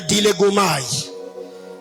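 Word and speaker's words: διαλέγομαι: Sixième chose, il faut apprendre à faire ce que j'appelle le dilégomai. Dis à ton voisin dilégomai. Dis à ton voisin dilégomai. Dilégomai s'écrit comme ça se dit, c'est en grec.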